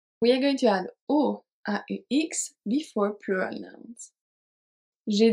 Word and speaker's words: aux: It's going to be AUX, but it's pronounced O as well.